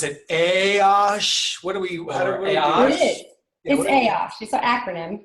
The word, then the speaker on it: AAOSH: Russo oh it's definitely my pleasure thanks guys for having him so first off we pronounce it hey OSH what do we pay off it's an acronym